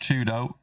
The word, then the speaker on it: 4YDO: For Twisted Minds, if you weren't aware, 4YDO is pronounced Chudo. So if you hear me talk about Chudo, it's that guy.